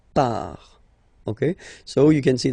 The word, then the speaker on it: part: Final T not pronounced, il, elle, part.